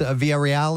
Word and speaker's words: Villarreal: And is your last name pronounced Villarreal?